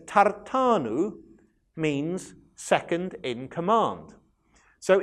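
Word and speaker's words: תרתן: Now in Hebrew, tartan is spelt with a short A, tar, and then a long A, tan.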